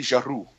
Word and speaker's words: Giroux: And if we can just get the pronunciation right, you got to roll the R. It's Sophie Giroux.